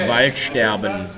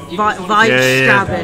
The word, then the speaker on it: Waldsterben: Waldsterben against I'm sorry, how's it pronounced? Waldsterben. Wow. You have to do the voice as well. Waldsterben. Waldsterben. It sounds a lot like just white stabbing.